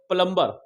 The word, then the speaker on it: plumber: एक बात और ध्यान रखिएगा बच्चों, नोट प्लम्बर, क्या रखना है इसको आप, प्लम्बर। एम के बाद जब भी बी आएगा वो साइलेंट रहेगा। प्लम्बर, Baum, com, टॉम, प्लम्बर।